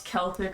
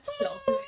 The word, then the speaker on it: Celtic: I like how you can pronounce Celtic right. Like someone here Oh god, like, do people actually, what did I say instead? Celtic. No, because like the Irish guys in my Discord shoot me out for it.